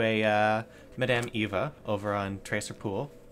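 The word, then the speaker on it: Tser Pool: I learned that we should go talk to a Madame Eva over on Tracer Pool. Terrace Pool? How do you pronounce that? Tesser Pool. Tesser Pool.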